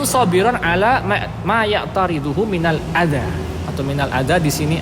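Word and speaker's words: أذى: Kasrah secara hukum tapi bacanya adza, tetap dibaca adza, bukan adai. Orang Arab nggak bisa bilang ada a terus i, nggak bisa.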